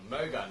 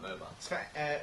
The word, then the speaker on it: Moga: I even said it wrong. Moga, not MOBA.